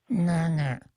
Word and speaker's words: nga: Now, N and the combination N-G is really hard for an English speaker to pronounce. Not hard in Chamorro. It's a regular sound in Chamorro. The Chamorro word for duck is nga. And you can learn to say it, but it doesn't fit very well in an English mouth.